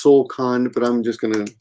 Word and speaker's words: 送還: You're kicking someone else out, and if you guys want to know how to pronounce that, it's Solkan, but I'm just going to show you this so you can see it on the screen.